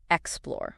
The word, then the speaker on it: explore: It's pronounced explore with the stress on the second syllable.